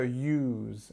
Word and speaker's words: use: important to see that some words beginning with you don't have the Y sound but this one does so at the beginning of the word this Y and then we've got the long o so use use um